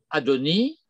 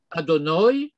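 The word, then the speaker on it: אדני: Et ça peut se lire de trois manières. Adoni, je vais prononcer à la Ashkenaz pour que ce soit clair. Adoni, Adonoi ou Adonai avec un patach.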